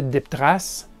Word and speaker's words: DipTrace: Je vous le prononce en français DipTrace.